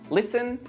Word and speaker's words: listen: Now, let's take a look at a few words with a silent T. Butcher, castle, listen, mortgage, soften, which.